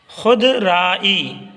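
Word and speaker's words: خودرائی: खुद राई का नतीजा खुद राई खुद राई जल्दी पढ़िए वाव की आवाज यहां पर साइलेंट कर दीजिएगा खुद राई शदा इदफा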